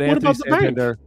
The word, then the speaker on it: Santander: If you did not ever hear an announcer say his name, you'd have no idea how to say it. But Anthony Santander, what? What about Santander Bank? Santander Bank. It works.